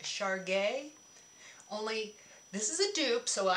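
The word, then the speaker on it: Chergui: I just have this one, and I can make more up, but I just have this one, and let me pronounce it right, Char Gay.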